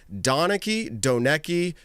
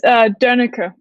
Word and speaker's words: Donecke: It's German. It's Donecke. Donecke. Okay. Donecke. Yeah, sure. Oh, it's not a sound that people say in English, so it's hard. There's an umlaut on the O in